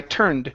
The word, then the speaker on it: turned: said okay and let's practice the Ed ending instead of I turn it around it would be I turned I turned around I turned around okay